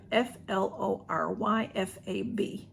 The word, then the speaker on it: Floryfab: Flora let me say it right it's florifab f-l-o-r-y-f-a-b Flory Fab and I'll have them below and